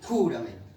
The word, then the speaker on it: júramelo: Es decir, el acento va en júramelo.